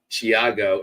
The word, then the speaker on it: Thiago: a th sound and I was so glad that I did my research because it's not now that's the Brazilian